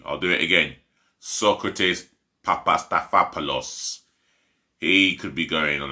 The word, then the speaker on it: Papastathopoulos: marvel pandas but um socrates papastathopoulos yep i'll pronounce that name right for you i'll do it again socrates papastathopoulos he could be going on a free i